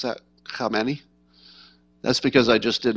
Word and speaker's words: Khamenei: And notice how well I pronounce that, Khamenei.